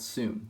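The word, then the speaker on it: Sune: case we have is called zoom that's spelled s-u-n-e it's the easiest my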